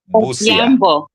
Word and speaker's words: Busia: Gentleman, Brother Emanuel, living on, how you pronounce that town, Brother Moses? Emanuel. No, the town. Busia.